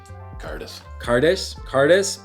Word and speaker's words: Cairdeas: Cairdeas.